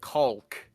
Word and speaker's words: caulk: um rubber like cement caulk. C A U L K. You pronounced the out of that L.